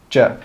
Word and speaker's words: do you: We don't say 'do you.' We put those together and we just say one sound. Juh, juh, juh.